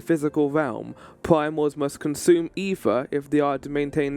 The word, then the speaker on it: aether: Ether or aether, chat? I always go with ether in this game. I always say that the A is silent.